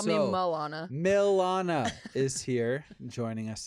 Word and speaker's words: Milana: can't get into wrong Milana oh like the city Milan but sometimes people are